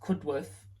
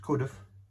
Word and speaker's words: Cudworth: so you know Barnsley I thought it was cudworth it's not good with it could have uh and then what